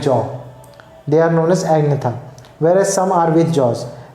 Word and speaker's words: agnatha: They are known as agnatha, whereas some are with jaws, and those with jaws are known as gnethostomata. G is silent in both the words.